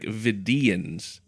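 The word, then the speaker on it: Vidiian: is more it's like vians the emphasis is more on that that second syllable oh God now we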